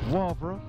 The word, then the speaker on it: Wavre: Day 14, and we're leaving the Schlossberg Hotel, Homberg, for, wait for my pronunciation, Wavre, W-A-V-R-E.